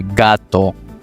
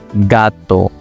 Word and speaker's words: gato: For example, gato, gato, o garaje, garaje.